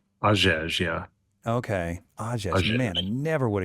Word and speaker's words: Hagege: yeah, so if you want to get real technical, the H is silent. So it's Hagege. Ajej. Hagege, yeah. Okay. Ajej.